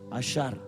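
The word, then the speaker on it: עושר: ப்ரொனன்சியேஷன்க்காக சரி உச்சரிப்புக்காக வச்சிருக்காங்க புள்ளி அந்த பக்கமா இருந்துச்சுன்னா சாு ப்ரனன்ஸ் பண்ணும் புள்ளி இந்தாண்டை இருந்துச்சுா ப்ரனௌன்ஸ் பண்ணும் தசம பாகத்துக்கான வார்த்தை அசார் ஐஸ்வரியத்துக்கான வார்த்தை அஷர் ஆனா ஒரே ஸ்பெல்லிங் அப்படின்னா ரெண்டும் ஒன்னோட ஒன்னு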